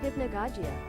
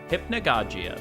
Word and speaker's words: Hypnagogia: Hypnagogia. Hypnagogia. There you go. That's how you say it.